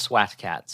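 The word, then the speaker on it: SWAT Kats: of his production company it's cats with a K by the way oh we know do we yeah yeah also it's pronounced SWAT cats SWAT cats great anyway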